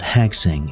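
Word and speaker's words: 학생: For example, the word for student, written as shusheng in Chinese, is pronounced gakusei in Japanese, but hagseng in Korean, illustrating how shared influences have diverged over time.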